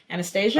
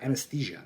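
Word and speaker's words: Anaesthesia: joke um what's the how do you pronounce the name of the the young woman who takes him across the bridge Anastasia oh uh anesthesia anesthesia yes yeah there's a great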